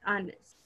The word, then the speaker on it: honest: Let's see the word honest. The pronunciation.